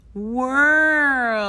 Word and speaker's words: world: World. Não é tão difícil. Ok, é um pouco difícil, eu sei. Mas eu acho que é quase like two syllables.